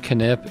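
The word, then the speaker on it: Knip: least favorite trip groat canip and it is pronounced canip is located on the northwestern part of the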